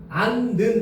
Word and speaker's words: 않는: 니은 히읗 리을 히읗 뒤에 니은이 결합되는 경우에는 히읗을 발음하지 않는데 자 여기 봐봐. 안는 나왔지.